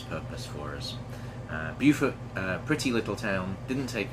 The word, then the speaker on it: Beaufort: We are in Beaufort, South Carolina, spelled the same as Beaufort, North Carolina, but it's pronounced differently. Beaufort, South Carolina.